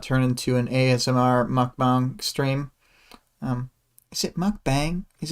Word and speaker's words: mukbang: So Greg says, despite the spelling, it's pronounced bong, so I did pronounce it right the first time.